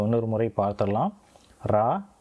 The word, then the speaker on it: リ: ரா, ரீ, ரு, ரே மற்றும் ரோ.